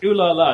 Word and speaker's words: Olialia: It's pronounced Olialia.